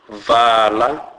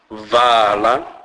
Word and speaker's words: vala: A is pronounced as a, as in a word fa. Examples: vala, vala, which means shut.